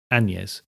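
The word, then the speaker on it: Annes: anes spelt a double n e s and pronounced anes with a hint of a non-existent g weightly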